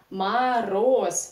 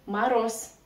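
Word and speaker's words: мороз: about Russian reduction here ma Ros the stress is on the last syllable that's why first all we pronounce like ah don't forget about another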